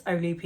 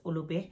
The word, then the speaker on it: Olupi: A lot of people can't pronounce my surname, so it's Olupi. If you want to say it in the Greek way, then it is Ulubi.